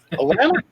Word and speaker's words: Atlanta: Atlanta? No, Atlanta. There's no T in Atlanta.